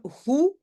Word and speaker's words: goed: Het heeft me goed gesmaakt. Souvent, vous le savez, le D, on ne le prononce pas.